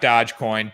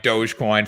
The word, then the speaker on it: Dogecoin: dogecoin to the moon not dodgecoin dogecoin for all those people that can't pronounce that so that does it